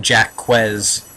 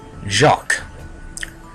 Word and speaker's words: Jacques: world dream Weaver's World Jac not pronounced Jack quz as you uh childhood self May believe jacqu the only level in